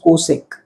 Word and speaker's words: cosec: way was better because we used to pronounce it just the way we used to write it and that was cosec.